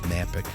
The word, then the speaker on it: Knapik: I am your host, Knapik. That's right, K is silent.